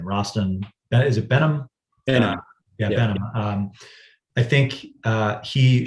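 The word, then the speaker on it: Behnam: I think the chairman of the CFTC, I don't know how to pronounce his last name, Rostin, is it Benham? Benham.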